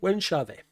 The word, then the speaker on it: Wenchave: That's how you say it, Wenchave.